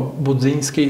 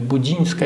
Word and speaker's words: Budzińska: 50 tych filmów zawsze się mówi o budzyńskim wypełnijmy budziszyńska jak budzik godzin katolicka myślę że